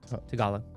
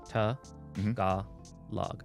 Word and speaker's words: Tagalog: Tagalog. What? Tagalog. Do it slow. Tagalog.